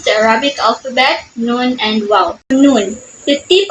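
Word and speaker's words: نون: press against the MERS it is the nasal sound so air passes through the nose similar to the English n in net so noon noon so when you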